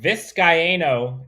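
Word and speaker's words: Vizcaino: us the good word viscayno is four syllables thank you i butchered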